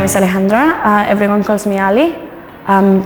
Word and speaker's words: Alejandra: Alejandra, a little bit more soft.